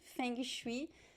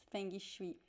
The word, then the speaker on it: feng shui: is that we uh we pronounce the g right so in portuguese whenever we have a consonant that is left by itself at the end of a word in brazil we we tend to add this e sound at